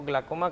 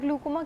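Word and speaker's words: glaucoma: किसी बहुत सारे अरसे तक तो ग्लूकोमा क्या प्रोनाउंस करते हैं? आप इसको कुछ लोग ग्लाकोमा पर प्रोनाउंसिएट करते हैं, कुछ ग्लूकोमा करते हैं।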